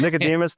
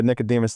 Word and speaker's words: Nicodemus: Nicodemus, though, you pronounced it properly. That's not something that a lot of people get correct. But yeah, Nicodemus is right.